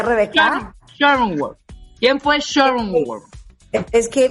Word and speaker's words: Schrödinger: Pero a ver, ¿cómo se pronuncia, Rebeca? Schrödinger.